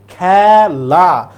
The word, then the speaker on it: খেলা: উচ্চারণটা এর মত নাই এখানে যে একার আছে আমরা বলি খেলা না আমরা বলি খেলা তার মানে এখানে এর উচ্চারণটা এর মত আছে এর মত মানে হচ্ছে বিবৃত আমাদেরকে চেয়েছে কোন জায়গায়